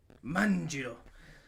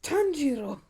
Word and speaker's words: Tanjiro: Manjiro. Tanjiro, it's Tanjiro.